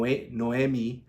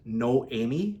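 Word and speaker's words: Noémie: would see her name they would say no Noami like Noel but she's like no that's not how you pronounce it I'm like I'm like well how do you pronounce your name and she's like well the proper way of saying it is no Amy but fast so no Amy I'm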